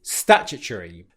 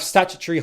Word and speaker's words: statutory: The primary stress is on the first syllable.